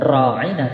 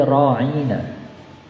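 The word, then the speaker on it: راعنا: Nah, cara membacanya kemudian agak dipanjangkan tadi bukan raina tapi roina.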